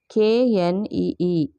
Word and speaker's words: knee: KNEE, knee. K is silent.